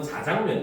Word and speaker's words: 자장면: 굉장히 흔한 내용이에요 그래서 대표적으로 우리가 짜장면 같은 경우도 원래 표준 표기나 발음은 자장면 있니다 왜냐면 그게 중국의 작장면이라고 하는 면에서 온 유래한 그 음식이거든요 그런데 이제 우리나라 보면서 자장면이 되었고 근데 그 자장면은 사람들이 하도 이제 강조해서 짜장면 짜장면 하니까 현재는 짜장면도 복수 표준을 인정을